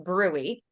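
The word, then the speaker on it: bruit: an indication of turbulent flow known as a brewery it's spelled brute bu BR r UI T brute but it's actually pronounced brwy and then toes T is for toes that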